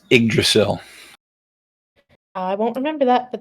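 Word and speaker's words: Yggdrasil: thing yes okay I didn't know how to pronounce that it's igdrasil I won't remember that but thank you it's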